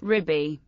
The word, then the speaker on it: Rebbe: In the Litvish world, when not referring to a Hasidic Rebbe, the word can be pronounced Rebbe. Sephardic Jews can pronounce it as Ribbi.